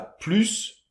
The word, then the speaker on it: plus: Par exemple, bien, tu as plus de chocolats ou de chips que moi. - Ok - D'accord ? Donc là on va prononcer le S.